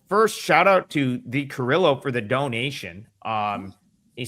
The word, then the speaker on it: Carrillo: Leave it to a guy from the East Coast to say Carrillo. Brian, we know how to pronounce that name, right? Is that an E? Is that a Carrillo? Is that what you think it is? It's Carrillo, yeah. Come on, Brian. We're from the West Coast.